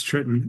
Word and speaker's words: Triton: our first questioner is tritan or Triton sorry I'm not sure the pronunciation of your name go ahead yeah thanks Ed it's Triton um so I'm in